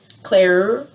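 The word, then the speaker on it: Cleure: i looked into them claire claire i think that's how you say it c-l-e-u-r-e i looked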